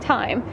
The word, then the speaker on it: thyme: that's all though then thyme or thyme someone told me how to say it time and then i don't